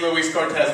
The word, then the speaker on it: Luis Cortes: Like everybody has the name Luis Cortes back home. Now, here, that's how I pronounce it. I pronounce it Luis Cortes.